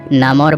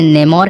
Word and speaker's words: Namor: जो कि अपना नाम नामोर बताता है। कॉमिक्स में, मूवी में और साथ ही कार्टून्स में इसके अलग अलग प्रोनाउंसिएशंस हैं। कोई इसे नेमोर कहते हैं, कोई इसे नमोर कहते हैं, कोई इसे नामोर कहता है।